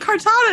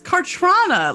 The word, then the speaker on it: Cartrana: Her name isn't Cartana, it's Cartrana.